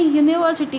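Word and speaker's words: university: तो स्टूडेंट्स यहाँ आप अगर देखेंगे तो जब हम प्रोनाउंस करते हैं यूनिवर्सिटी को, ओके, तो ये ऐसा नहीं लगता है कि यू से स्टार्ट हो रहा है, ऐसा प्रोनाउंस होता है कि ये वाई से स्टार्ट हो रहा है।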